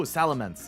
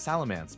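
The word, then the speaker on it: Salamence: Oh, Salamance. Yeah, I always pronounced it as Salamance, but I mean, it's an E instead of an A, so I I guess it should be Salamance.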